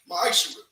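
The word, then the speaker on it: מעשר: Means 10th in Hebrew, and it's pronounced ma'ishra. 10% of every penny of any increase the Lord gives you, give to the treasury department or teacher.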